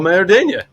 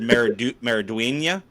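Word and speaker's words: Maridueña: I'm gonna spell it first. It's Xolo. First name is Xolo. Last name Mariduna. As Zolo Maradena. I was gonna go with Zolo, and then I probably would have said Meriduena.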